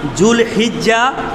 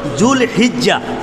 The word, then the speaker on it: জুলহিজ্জা: আসলে আমরা যদিও বাংলাতে জিলহজ কই, আসলে সঠিক উচ্চারণটা হলো জুলহিজ্জা।